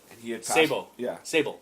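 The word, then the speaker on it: Sabol: right he pass Sab Sable it almost sounds like Sable but Sable yeah and uh he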